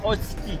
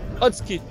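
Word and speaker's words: 大月: Non, ça s'appelle Otsuki. Otsuki. On ne prononce pas le U.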